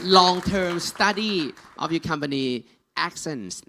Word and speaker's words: Axens: Jeff Caden, for the knowledge from long-term study of your company Axens นี่นะครับออกเสียงถูกแล้วนะฮะ Axens นะครับบริษัทนี้นะครับสุดยอดเลยอธิบาย I can pronounce it now. It says Axens, right?